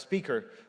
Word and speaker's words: SPQR: one called graph QL SPQR or pronounced speaker which is a graphical